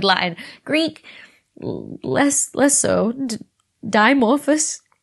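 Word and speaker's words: Dimorphos: greek less less so dimorphous demorphus the bbc say demorphus so i'm gonna stick with that involved as well but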